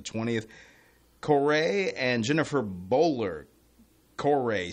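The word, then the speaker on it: Coray: Corey, C-O-R-A-Y. I would pronounce it like okay. that.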